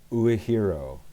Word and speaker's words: Uehiro: So I am the associate director of the University of Hawaii at Manoa Uehiro Academy for philosophy and ethics and education. So Uehiro, which is confusing because there is a Uehiro,